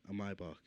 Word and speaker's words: Maybach: Maybach, Maybach truck specifically.